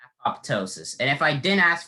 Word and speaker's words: apoptosis: me the alternate pronunciation apoptosis so what that revealed to me is that in the actual uh pronunciation there's a silent letter uh if i had